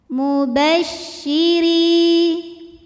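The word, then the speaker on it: مُبَشِّرِينَ: angin di dalam mulut mubasyiri huruf ro dibunyikan secara tarqik sebab berbaris kasrah maka cara bacanya tipis mubasyiri RI madnya adalah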